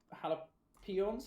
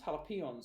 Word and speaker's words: Jalapeons: blue corner we have hala hala pions jalapeons i've been saying the name wrong r.i.p and in the